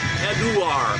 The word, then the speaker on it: Eduard: Not Edward, it's Eduard. I think it's Eduard.